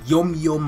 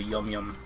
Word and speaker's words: Yum Yum: change the names of yom-yom became official unless it was just pronounced yum-yum the entire time but on the world